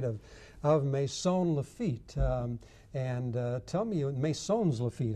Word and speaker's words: Maisons-Laffitte: Tell me, Maisons-Laffitte, how do you say it in French? Well, Maisons-Laffitte, that's right, and it is a little town.